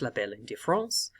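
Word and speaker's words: la belle indifférence: specific symptom known as la belle indifference, or if you pronounce it in French, la belle indifference.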